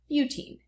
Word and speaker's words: butene: so that would be butene. Okay, because 4 goes with, it looks like but when I write it here, but usually we say but when we're pronouncing the compound.